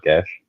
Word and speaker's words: Geass: Gas is a binding spell. Yes. It's. I'm pretty sure it is actually meant to be pronounced gas.